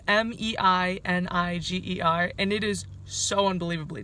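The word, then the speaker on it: Meininger: stay in a hostel manager I I know I butchered that but it's Mei and I ger and it is so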